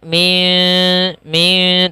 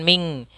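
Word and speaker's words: مِنْ: dalam hukum tajwidnya maka suara nunnya kita samarkan maka Bagaimana cara membacanya cara membacanya adalah disamarkan suara syinnya seperti terdengar dengan bunyi Eng maka Min tapi bukan Ming tapi dia kita samarkan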